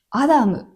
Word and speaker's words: 男: では男と書いて何と読むでしょうか ? アダム、アダムって読むらしいです。